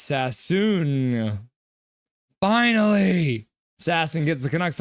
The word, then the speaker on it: Sasson: It's pronounced Sassoon.